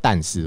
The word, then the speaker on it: 但是: 家，干死我刚是讲但是，我的发音有点不太标准，是但不是。歌开头的 OK，但是呢